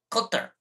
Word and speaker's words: Qatar: Cutter, cutter, cutter.